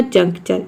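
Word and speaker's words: juncture: यहाँ पे आप समझ लीजिए कि कभी भी TURE अगर एक साथ आता है तो इसको हम चर प्रोनाउंस करते हैं।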